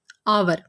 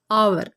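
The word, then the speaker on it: hour: ہم این لگائیں گے۔ آور، اسپیلنگ دیکھیے، سٹارٹ میں ہے ایچ، واول بالکل نہیں ہے، لیکن جب ہم اسے بولتے ہیں آور تو اس کا جو شروع کی جو ساؤنڈ ہے وہ ہے آ۔ جب ہم اسے اردو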